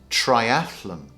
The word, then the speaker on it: triathlon: Now the correct pronunciation is triathlon. Triathlon. For some reason, everybody says triathlon. Triathlon. But the correct pronunciation is really triathlon. It's probably because it sounds very similar to marathon.